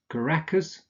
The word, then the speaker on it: Caracas: cities or towns here that are difficult to pronounce such as Caracas Canberra capital of Australia Chicago not Chicago Chicago